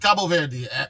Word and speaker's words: Cabo Verde: It's actually pronounced Cabo Verde.